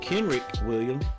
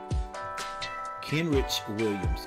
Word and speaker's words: Kenrich Williams: Uh Kendrick Williams, that's how you say his name, isn't it? Kenrich Williams.